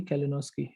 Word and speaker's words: Kalinowski: And you have pronounced it properly, Kalinowski.